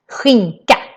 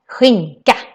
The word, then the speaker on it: skinka: The K on the other hand sounds more like a K sound here. So it's ka, skinka, skinka. That's how we say ham.